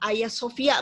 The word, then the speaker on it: Hagia Sophia: Tapi sebenarnya kita menyebutnya Pak Hagia Sophia. Bacanya tuh Hagia Sophia. Karena memang ini bahasa Turki.